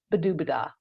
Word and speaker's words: Badobedah: when I named her madame buub rhymes with o laa a good name for